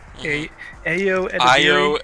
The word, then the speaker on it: Ayo Edebiri: It took me a few years to find out that was how you say it. Right. I thought it was Ayo Edebiri.